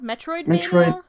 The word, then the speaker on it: Metroidvania: Its genre, is that pronounced Metroidvania? Metroidvania.